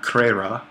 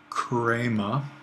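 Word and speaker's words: χρῆμα: eight and decline crema so we have crema not creira i'm sorry chrama and the accent is on this syllable which means we're going to get a circumflex there crema and then the genitive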